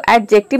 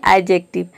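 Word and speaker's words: adjective: इसको एडजेक्टिव नहीं बोलते हैं, इसको बोलते हैं एडजेक्टिव।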